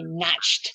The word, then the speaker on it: Nacht: I would hear him say Nacht, and I would just go, But there are parts of Germany that pronounce the CH like English does.